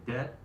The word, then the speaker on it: debt: Debt, you do not pronounce the B.